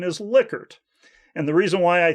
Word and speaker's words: Likert: of dr lickard and he told me it should be pronounced liquor and not like her at any rate some